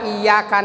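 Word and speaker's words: إياك: Jadi kalau baca iyyaka na'budu, iyanya tidak pakai tasdid, berarti maknanya udah lain. Maknanya matahari itu. Kalau iyyaka na'budu wa iyyaka nasta'in, maknanya tidak pakai tasdid, iyanya dawu syamsi, itu cahaya matahari. Ya, maknanya. Jadi menyembah matahari. Kalau iyyaka na'budu, iyanya tidak memakai tasdid. Iyyaka ya ka. Iyyaka. Ka itu tipis.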